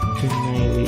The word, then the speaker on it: Genially: Bacanya gimana ya? Tulisannya GENIALLY. Genially gitu ya.